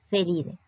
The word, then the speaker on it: Felidae: No se dice Felidae, o sea, es la forma de pronunciación en latín. Felidae.